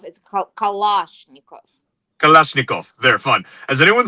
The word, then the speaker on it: Kalashnikov: Pronouncing it correctly. It's not Kalashnikov. It's Kalashnikov.